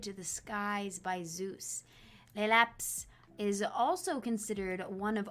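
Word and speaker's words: Laelaps: Lelaps.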